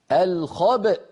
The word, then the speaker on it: الخبء: هنا نقفل الوترين الصوتيين لماذا لان في اصل الكلمه همزه متحركه في الوصل لما وقفنا عليها سكنت الهمزه فلا بد من نطقها فنقول الخبا هنا نخرج الباء المخلقله بالتباعد